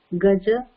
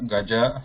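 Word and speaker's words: गज: So these should be read as what she pronounced, like Aja, Gaja, Hara, Kara. So they should not be pronounced like Har or Kar or Gaj or Aj.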